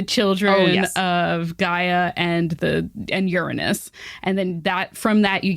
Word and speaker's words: Uranus: Gaia had some kind of relationship with Uranus, which is how you say that word, out